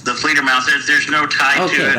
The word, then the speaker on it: Fledermaus: Is there a connection between your song Flandermus and Johanstrust 2 song Die Flandermus? What the hell? What the hell? I would say no. No. It's the Fledermaus.